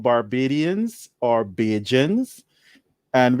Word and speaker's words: Bajan: Barbadians or Bajans, and we are called Bajans, Bajan, because of how the English pronounce the word Barbadians. So the English accent, they would say Barbadian. You old Barbadians where you live. So that di, when an English person pronounce Dian, Barbadian, they would say it would sound like a J, Barbadian. So we just say Bajan.